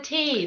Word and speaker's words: Tay: So Tear, how do you spell that? T-E-A-R? No. What's the first river called? Oh, the Tay, the River Tay. That's the T-A-Y. T-A-Y, okay.